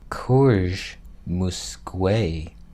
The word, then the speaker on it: Courge Musque: Courge Musque asks, I pronounced that just fine. That's how you say it, I know.